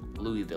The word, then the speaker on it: Louisville: Worcester number two uh Louisville we know that one we know it's French so when you see Lewis it's actually not Lewis it's actually Louie Louisville like Louis Vuitton right Louisville my wife